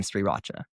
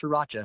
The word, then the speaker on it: Sriracha: So I purposely like really pronounced the R in Sriracha. And I used to not do that but my wife was like no it's pronounced Sriracha.